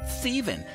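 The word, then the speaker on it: Ptheven: No, it's pronounced Steven, and it's spelled P-T-H-E-V-E-N.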